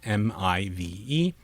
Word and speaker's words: MIVE: The pronunciation can be probed with MIVE, and the model should generate a pronunciation that rhymes with dive, not give.